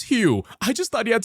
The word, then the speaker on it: Hugh: They pronounced it Eeg, and I didn't know until the day before I left France that his name was Hugh.